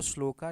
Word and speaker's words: श्लोक: तो आपको श्लोका लिखना या श्लोक या श्लोका जो आप इसको प्रोनाउंसिएशन करें संस्कृत या हिंदी में तो श्लोक लिखते हैं। इंग्लिश में जो बोलेंगे वो श्लोका बोल देते हैं। ठीक है? श्लोका बोला जाता है इधर।